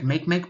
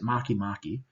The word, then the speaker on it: Makemake: out and this one it looks like Makemake but you pronounce it Makemake and then we have